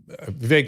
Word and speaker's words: Vivek: You can follow Vivek Ramaswamy at Vivek, VIVEK Ramaswamy, just as it sounds phonetically, on X, Vivek G.